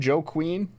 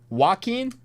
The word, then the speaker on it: Joaquin: You know the name Joe Queen? Remember how you told me how to pronounce it that one time? Joaquin? Okay. Joaquin.